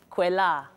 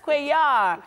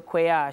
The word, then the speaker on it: Kwela: Tamiko Kwela. I missed it. Oh my goodness, Kweyar. Yes, the L is silent. So Kweyar, she's the founder of